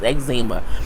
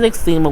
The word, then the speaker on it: eczema: X something I'm like he can't even pronounce eczema he has extrema which it means he